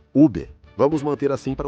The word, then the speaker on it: Uber: Então sim, eu sei que alguns pronunciam Uber ou até mesmo Uber, aparentemente, mas eu gosto da pronúncia 100%, a francesa Uber.